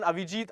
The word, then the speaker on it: Avijit: So okay, I beg your pardon, Avijit. I beg your pardon. I don't have my reading glasses on, so I mispronounced your name. So it's not Arijit, guys. It's Avijit.